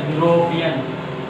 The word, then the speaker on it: European: And its sound is what is that? European.